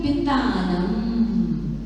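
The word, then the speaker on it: वितानम्: आगे जो पढ़ते हैं सेकंड पंक्ति में थर्ड पढ़ते हूँ वितानम, बा नहीं है, वाह है, वितानम, वितानम।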